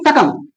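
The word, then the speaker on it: succumb: अब ये सकम। सकम ब नहीं पढ़ना है। सकम पढ़ना है।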